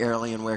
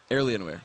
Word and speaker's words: Alienware: to the Finish L Alienware Alienware okay there we Goen pronunciation helps indeed there's an r in there randomly it was kind of weird myself Rivington the third